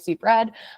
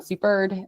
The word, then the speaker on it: Supered: I've been calling it super red. Um, super um is the proper way to say it.